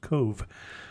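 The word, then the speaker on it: Cobh: spell it apparently since when you see something that's spelled Co BH you don't think that it would be pronounced Cove I know you think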